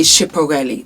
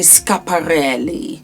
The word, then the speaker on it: Schiaparelli: I used to say Schiaparelli. That's what I thought it was. But it's actually Schiaparelli.